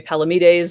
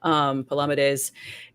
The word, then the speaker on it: Palamedes: instance, the Saracen knight, his name's pronounced variously, seems to be Palamedes and Charles Williams for the rhyme, Palamedes.